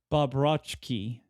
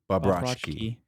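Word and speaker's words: Bobroczkyi: Bobrovsky. Bobrovsky. He is the CZ is a ch.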